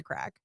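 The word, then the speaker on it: craic: And I always thought the word was crack. It's spelled like C-R-A-I-C. They had to explain it to us there. Until we were in Dublin and they were like, it's crack. Get your crack on.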